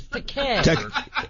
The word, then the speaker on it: Takei: Well, actually, you mispronounced my name. It's Takei.